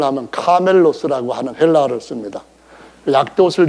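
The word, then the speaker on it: κάμηλος: 하겠다 하는 사람들이 이것을 어떻게 다시 바꾸냐면은 카멜로스라고 할 때는 에라고 하는 그 모음이 들어가는 겁니다. 그런데 밧줄, 배에서 하는 이런 밧줄, 큰 공사장에서 하는 밧줄, 이럴 때는 똑같은 단어가 아니라 카밀로스라 해서 이 발음이 들어갑니다.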